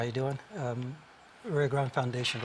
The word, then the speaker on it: Rio Grande: anglos would pronounce it Rio Grande is how you pronounce it if you've had Spanish 101 and then some people